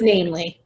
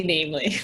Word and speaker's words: NAMLE: How do you pronounce it? It's NAMLE. NAMLE. I didn't want to interrupt, but it's definitely NAMLE.